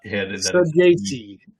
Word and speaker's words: Saggese: It's not how you pronounce his name, but this guy's name is Thomas Saggese. Ross, please say it for me because it's just stuck in my head. Saggese. Thomas Saggese.